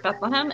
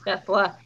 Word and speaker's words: Bethlehem: Bethlehem no longer it's Bethlehem, it's Bethlehem. It's like, oh, little town of Bethlehem. And I'm like, it's not E, and there's not a ham, it's hem.